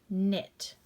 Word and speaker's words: knit: Here we have the word, remember, silent K. So it'd be n, it. KN says the n sound. Knit.